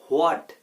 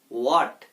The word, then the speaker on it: what: হোয়াট। হোয়াট। আমি বলবো এটার উচ্চারণ হোয়াট না বলে করবেন আপনারা ওয়াট।